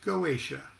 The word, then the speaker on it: Goetia: effective variety of solomonic magic is known as gauesha or g-o-e-t-i-a please pronounce it any way you want and is